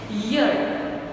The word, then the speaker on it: year: हम प्रोनाउंस करते हैं तो इसको हम प्रोनाउंस करते हैं ईयर, ओके, नॉट ई का आवाज़ नहीं आता है, ईयर, पहले ईयर का आवाज़ आता है, जो कि कंसोनेंट है, तो इसके साथ